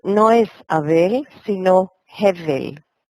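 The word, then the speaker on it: הֶבֶל: Y no es Abel, sino Hevel. Hevel.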